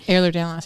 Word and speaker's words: Ehlers-Danlos: it's not the journey is not about overcoming Ehlers-Danlos. Did I say it right? Ehlers-Danlos, yeah.